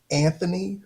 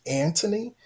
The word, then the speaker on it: Anthony: So this language where we say Anthony versus Antony, respectfully, I know according to King's English, we pronounce the H, but according to the Queen's English, we don't pronounce the H.